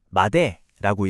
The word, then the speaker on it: まで: 마대는 마데라고 읽고요.